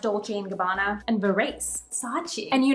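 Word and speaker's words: Dolce & Gabbana: options including Brands like Gucci dols and gabana actually it's pronounced DOL and gabana and veras sa and you know me the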